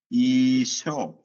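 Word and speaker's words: ܝܫܘܥ: അപ്പോൾ ഇങ്ങനെ വരുമ്പോൾ ഈശോ എന്നാണ് പറയേണ്ടത്. നമ്മുടെ ഈശോയ്ക്ക് പറയുന്ന വാക്കാണ് ഈശോ. ഈശോ. എയിൽ അവസാനിക്കുന്നത് കൊണ്ട് അത് നീട്ടി പറഞ്ഞാൽ മതി.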